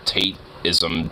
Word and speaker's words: Tateism: part of that manosphere taintism shit. Taintism. That's good. Spelled Tateism, with like Tate and with his name, but it's pronounced taint, like a nice musky fucking